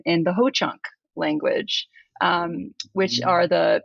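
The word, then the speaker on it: Hoocąk: so in in Ho chak in is in Ho Chunk so it is spelled h-o-o-c-a with a little tilde on the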